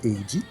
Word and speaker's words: Age: Je l'ai sur Wikipédia en français, et donc le synopsis dit Age, donc, est prononcé Eiji, est un jeune garçon seul survivant d'un vaisseau d'exploration humain qui s'est écrasé sur la planète désert.